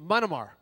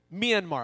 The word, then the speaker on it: Myanmar: to uh take a group of people into manamar yeah Myanmar I knew I would get it wrong but